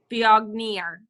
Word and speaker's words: Viognier: Holly, how would you pronounce this? Biognier. Good one. Very well.